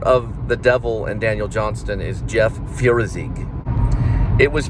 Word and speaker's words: Johnston: And all you English majors and people that are picky about pronunciation, Daniel Johnston. Okay? Johnston. Okay? I know. All right, you got your way. Johnston. Daniel Johnston. Right? It's pronounced, okay?